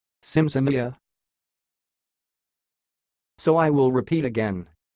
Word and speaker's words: Simsimyya: how pronounce this word the word you are watching it sounds like Sims Amelia Sims Amelia so I will repeat